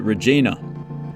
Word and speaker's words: Regina: But I believe it's also okay to pronounce it Regina.